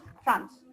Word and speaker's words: Franz: ओ हाँ, आप और हम जैसे थे, ये एक लड़का फ्रांस, right guys, फ्रांस नॉट the country, फ्रांस एज इन the name, spelling देखना, इट्स FRANZ, फ्रांस, उसको प्रोनाउंसिएशन इज फ्रांस, ठीक है?